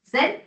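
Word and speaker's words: Xen: So for that hypervisor for that lightweight software is called as Zen hypervisor. it will pronounce as a set but the spelling is X E N.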